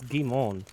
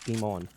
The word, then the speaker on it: Guimond: It's Guimond, actually. Guimond? There's no D. It's silent. It's Guimond.